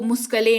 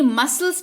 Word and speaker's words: muscle: MUSCLE, इसको मुस्कले नहीं मसल्स पढ़ते हैं, जिसका मतलब होता है मांसपेशियां।